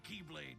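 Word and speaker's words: χ-blade: it means the x-blade it's just pronounced like keyblade even though it's just one keyblade ah the series is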